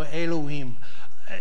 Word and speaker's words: Elohim: and by the way if you want to pronounce these Hebrew words it's like Spanish pronunciation of the vowel sounds so Elohim in Genesis and it